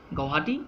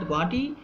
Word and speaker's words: Guwahati: So again, going for political and administrative form, Wells also described about the Guwahati, which was second influential city of the country,